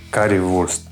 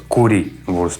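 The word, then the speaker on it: Currywurst: Как вы видели и называется Кари Вурст вернее немцы произносят кури Вурст Почему кури Никто объяснить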